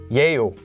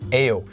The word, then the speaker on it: 예요: And 예요 is actually pronounced as 에요, but it's supposed to be pronounced as 예요.